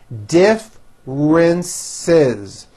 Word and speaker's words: differences: for a huge corporation differences three syllables and the second syllable begins with a strong R differences there are many differences